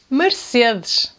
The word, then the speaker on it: Mercedes: This mark here is “MERCEDESH”, “MERCEDESH”.